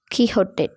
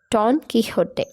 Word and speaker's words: Don Quixote: So it is a Spanish name, so we have to pronounce like Quixote, Don Quixote. So X will be pronounced like ha in Spanish.